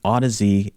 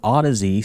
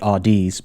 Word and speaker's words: Audeze: this video I'm going to be reviewing the Odyssey lcd2 headphones as you can see here many